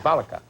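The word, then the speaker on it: Failaka: Allied forces have captured the small island of Palaka Palaka Island. And I'm told that's how you how do you say it out in that part of the world, General Falaka.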